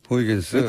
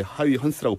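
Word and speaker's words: Huygens: 이 영어식 오래된 발음이었고, 사람인데. 네, 얘도 네. 옛날 사람인데 이 사람도 이제 요즘은 네덜란드 발음으로 바꿔서 이렇게 하이헌스라고 불러주는데 어허.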